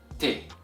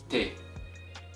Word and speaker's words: ت: it is pronounced as te k and once again repeat after me te okay and the letter T is equivalent to the letter T in English and the way you